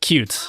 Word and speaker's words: Qt: It's I'm pretty sure it's pronounced cute. Crossplatform software framework is pronounced cute.